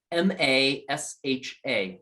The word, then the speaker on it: Masha: is the following masha if you were to spell that out it would be something like m-a-s-h-a masha okay cool and that's a tonal frequency